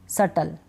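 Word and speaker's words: subtle: क्या है यहां पे ये जो बी है ना इन सारे स्पेलिंग्स में तीन स्पेलिंग ऐसी है जहां पर बी हम नहीं पढ़ रहे दैट डाउट सटल ठीक ठीक है बी को प्रोनाउंस नहीं करें बी इसमें साइलेंट है इन तीनों स्पेलिंग्स को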